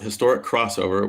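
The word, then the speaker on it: Historic X-Over: Historic X Over, pronounced Historic Crossover, was a professional wrestling event co-promoted by New Japan Pro Wrestling.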